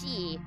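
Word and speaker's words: 四: uh know uh for in Japanese is can also be pronounced as she uh which also means death.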